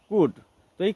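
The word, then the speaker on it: could: ও ইউ এলডি কুড অনেক সময় এই কুড শব্দটাকে আমরা কোল্ড ব্যবহার শব্দ বা উচ্চারণ করে থাকি সাউন্ডস করে থাকি তো এটি আসলে কোল্ড নয় এটি হবে কুডই কুড শব্দটি কখন কখন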